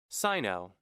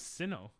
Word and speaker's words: Sinnoh: Sino. It's pronounced Sino. I always thought it was Sinnoh.